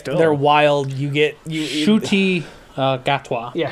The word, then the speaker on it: Ncuti Gatwa: You get Ncuti Gatwa. Yeah, Ncuti Gatwa. Yes, That's how you pronounce it. Ncuti Gatwa.